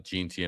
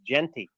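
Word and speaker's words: Jeanty: Why do you pronounce him GT? It makes him sound like a genie. It's Genty. Is that the Canadian in you? Yeah, it's Genty.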